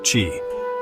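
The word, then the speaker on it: qi: It uses thin needles to improve energy flow or chi pronounced chi.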